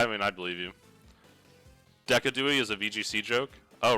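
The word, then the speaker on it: Decidueye: It's pronounced Decadi? That sounds stupid. I guess it's more fun to say though. Decadi, that's true.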